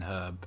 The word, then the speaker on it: herb: but it's herb herb although we don't pronounce the r in in herb as brits either unless you're from